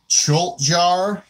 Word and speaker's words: Tjolgtjar: They're called Choltjar. It's spelled TJOLGTJAR.